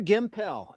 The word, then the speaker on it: Gimpel: stunt lady Sandre Gimpel. In the whole interview, I mispronounced her name. I called her Gimple, like Pimple.